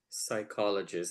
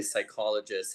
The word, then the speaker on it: psychologist: pronounce it was P psychologist I didn't know that the P was silent at that time and um and then and just reading what the psychologist had done you know